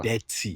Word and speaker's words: Detty: Is it Dirty December or is it Detty December? Detty. You Detty. definitely Americanize all your pronunciations.